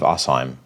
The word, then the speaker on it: Asheim: dear side Steve uh I keep saying Steve Hashim was but I I think it's pronounced Steve assim regardless uh deide Steve